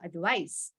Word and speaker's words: advice: just notice the pronunciation when I have to pronounce the word advice with C the pronunciation will have S sound in it so let me repeat it for you advice okay s Sound Advice